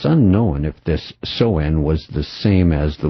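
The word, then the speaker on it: Samhain: Soen, said phonetically, which is Sam Hain.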